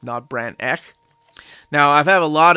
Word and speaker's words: Not Brand Echh: to do it but most of my viewers have told me it's pronounced not Brant neck now I've had a